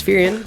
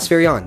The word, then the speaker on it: Spherion: Spherian. Oh, Spherian. Spherian. Sorry, Yeah. Brian. Not Spherion.